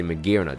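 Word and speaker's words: Magearna: pretty nice and also one shot the magnera or maguire now should say mcgiron that's how you say it properly now you know knocks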